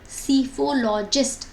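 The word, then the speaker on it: psephologist: को क्या बोलते हैं सिफोलैक होता है स्पेलिंग में आता है बट साइलेंट होता है ठीक है तो प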